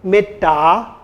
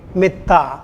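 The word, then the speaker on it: mettā: metta, they would say metta rather than saying metta. So dental sound should be pronounced as dentals.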